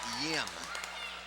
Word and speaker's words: Yim: In fact, I think Andrew's name is Yim. Unless maybe your Japanese is better than mine and you pronounce Y's like L's as you do in Spanish.